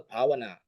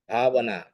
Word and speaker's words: Bhavana: We call Pavana. In Thai, it's a Thai style. So they say Pavana. It's a P. Actually, it's not a P. It's a P. Pavana.